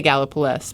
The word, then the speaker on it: Gallipolis: in Gallipolis Ohio and I think it's pronounced gala police not around that area Celeste how do you pronounce it done so come I say gala police but gala flu that was releases although I'm